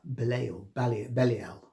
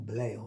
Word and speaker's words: Belial: Yeah, the Messiah who leads the forces of light against darkness, Belial, or Belial sometimes pronounced, and the devil.